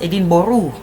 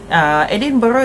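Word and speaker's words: Edinburgh: putih if people from London actually they actually pronounce the city as Edin Boru. Ya, the Duke of Edin Boru. Tapi ejaan ya Edinbg. Edin Boru ke Edinburg K is the same thing lah. Edin Boro is actually one of the cities in in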